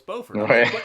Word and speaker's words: Beaufort: I only remember because it looks like it's spelled Buford and I kept saying Buford Wow Beaufort spell Beaufort they're telling me no it's Beaufort is Bell Beaufort Bueller's